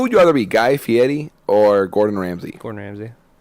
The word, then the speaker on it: Fieri: Listen, Guy Fieri is like... Why do you roll his R? That's like how he pronounces Fieri.